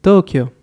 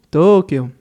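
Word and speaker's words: 東京: En este caso es la forma como se dice en Japón, Tokio. Pero bueno, nosotros comúnmente simplemente lo llamamos Tokio.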